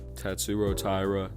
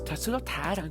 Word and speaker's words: Tatsuro Taira: I fucking hate when somebody says Tatsuro Taira. Bro, his fucking name is Tatsuro Taira. I hate the over pronunciation of names in MMA. This shit is so fucking corny. Like, don't get me wrong, if you're from the region of that fighter and you speak the same language, have the same accent, then yes, pronounce it the native way.